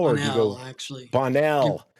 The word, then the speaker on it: Bonnell: Bonnell. Give it a French lilt there.